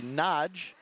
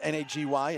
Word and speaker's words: Nagy: last one robbing Damon naggy the Hungarian pronunciation by the way a baggy would be Nagy so I'm not sure